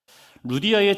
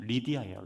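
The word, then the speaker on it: Lydia: 루디아의 직업은 자세곡감 장사였습니다. 루디아라는 이름은 그냥 우리 한국식으로 불리는 이름이고 헬라어로는 리디아예요. 리디아. 원래 발음하면 리디아.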